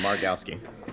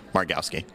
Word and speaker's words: Margowsky: with us David Mari this is really easy marowski marowski marowski okay don't read it just pronounce it you'll be fun um Dave is